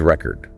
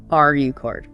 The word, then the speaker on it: record: As a noun, like a vinyl record or setting a world record, the stress is on the first syllable. R E chord. R chord. Got it. But as a verb, like to record this podcast, the stress shifts to the second syllable.